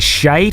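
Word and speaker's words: schijt: Is it with an I sound, like shite, or is it shat? No, it's S-C-H-I-J-T. So, of course, you pronounce it differently, but it's and then ait. Shite. Yeah. Like that.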